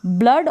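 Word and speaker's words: blood: ब्लड और फ्लड, यहाँ पर डबल ओ को अ प्रोनाउंस कर रहे हैं।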